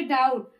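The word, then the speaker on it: doubt: अब यहाँ पे डाउट, अब देखिए टी के पहले बी आया हुआ है तो इसलिए यहाँ पे बी हमारा क्या है? साइलेंट है।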